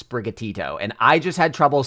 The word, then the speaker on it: Sprigatito: that probably can't pronounce sprigatito and I just had trouble saying it with my mouth right now so yeah I don't know but it's just it's just sprig plus gatito a actual Spanish word bad yeah I